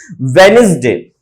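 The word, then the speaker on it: Wednesday: वेनिसडे, वेनिसडे, D silent होता है।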